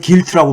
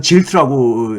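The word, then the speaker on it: gilt: 제가 방송에서 얘기했지만은 영국에서는 길트라고 부르고 우리나라에서는 미국에서는 질트라고 미국 사람들은 발음을 질트라고 해가지고 길트 가고 있는데 이게 무슨 뜻이냐면 금박지죠.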